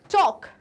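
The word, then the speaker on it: talk: टॉक, टॉक में क्या नहीं सुनाई दे रहा? आप बताओ मुझे। टॉक, एल नहीं सुनाई दे रहा इसमें भी।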